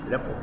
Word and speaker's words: rapport: Rapport pronunciation এটা হলো rapport না কি? Rapport. RAPPORT, র্যাপো।